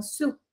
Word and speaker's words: Sault: pesar de que se escribe como esto se pronuncia como sub como ese y doble o entonces es su